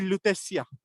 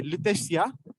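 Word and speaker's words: Lutetia: a town and they used to call it leesia again I'll spell it for you l u p e c i a leesia and that was the name of this place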